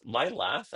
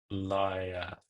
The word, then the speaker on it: Liath: That new set, yeah, yeah, Liath, Lilath. Oh, is there Lilath? Liath, Lilath? No, there's one L. Liath. Extra typo.